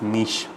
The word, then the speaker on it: niche: Moving on to word number 4, the word is niche. We pronounce it with N-E-E-S-H.